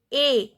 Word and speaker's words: es: Then tu es. S is silent. Pronunciation is a.